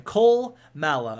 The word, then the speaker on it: Kolmala: Kolmala? Yeah, that's how you pronounce his name. Kolmala.